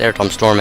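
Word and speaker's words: Aretam: I'm pretty sure it's Air Tom Storm actually. That's spelled A-I-R-E-T-A-M. Air Tom. Materia backwards.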